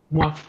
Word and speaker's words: moi: Si je trouve un OI, ¿cómo suena, Lalo? Ale, a ver si se acuerdan. A ver, a ver. ¿No? ¿Dalo? ¿Ale? Ok. Fíjense bien. ¿Cómo pronuncio eso? Mua. ¿Cómo? Mua. Mua. Entonces, ¿cómo se pronuncia hoy? Gua.